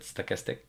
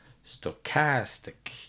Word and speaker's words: stochastic: stochastic I pronounce it stochastic but in English you put an emphasis on stochastic you put an emphasis on the second syllable and if I don't